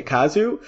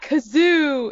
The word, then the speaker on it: Kazu: Like, no, it's not Kazoo, it's Kazu.